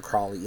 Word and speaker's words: Crowley: was all about Victor Crowley anyways so Crowley or Crowley I'm not sure they say it both ways in the movie and I think they